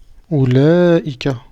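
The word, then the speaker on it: أولئك: red hat et ready il ya un med qui se prononce mais qui ne s'écrit pas donc ça se prononce ou laïka d'accord on a un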